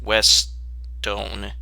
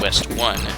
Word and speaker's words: Westone: West stone it's pronounced West Doan not at West one it's yeah their name is supposed to mean like a combination of west and stone and we'll just see